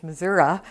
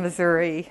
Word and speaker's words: Missouri: knew that but that's the correct pronunciation is Missoura instead of Missouri um a lot of